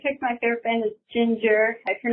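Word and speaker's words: Jinjer: In fact, the name looked odd enough to me that I initially pronounced it Jinger. That's not how it's pronounced. It is pronounced Ginger, spelled with two J's instead of two G's.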